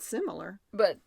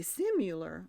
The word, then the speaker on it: similar: Well, you said it right, though. You said similar. But I say simular, so I'm wrong. And I would have spelled it with the U. But simular has become a word because people misheard similar.